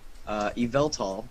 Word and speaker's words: Yveltal: And then Yveltal is the giant Y-shaped bird. You actually pronounced it right.